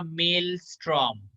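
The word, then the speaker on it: Maelstrom: इसका जो प्रोनाउंसिएशन होगा वो होगा मेल स्ट्रॉम।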